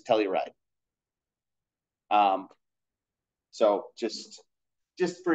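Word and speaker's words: telluride: but for whatever reason that is the proper way to say torium with a negative2 charge is Telly ride um so just just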